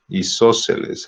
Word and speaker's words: isósceles: Nada más quiero ver dónde lleva el acento isósceles. A ver. En la O. Isósceles, sí, va en la O.